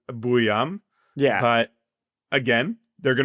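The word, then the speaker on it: Buium: And then uh again, I think his last name is probably most phonetically properly pronounced, Buam.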